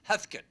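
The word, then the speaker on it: Heathcote: Caleb heot and again my father says Heth that's really how you pronounce it and and they on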